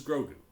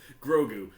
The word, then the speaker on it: Grogu: the child this is grogu grogu everyone everyone grogu i i think it's gotta catch on um because it's two syllables like yoda grosgu it's it's lining